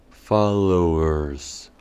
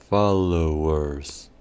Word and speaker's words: followers: de esta última palabra la o del comienzo sonaría como una a fa y la e del final sonaría como una u followers followers veamos ejemplos en el